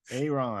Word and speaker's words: Ayron: You know, Aaron, ever how you want to pronounce it. It's Ayron, but man. but but There's a Y you know, in there. I know there's a Y in there, but no, So I just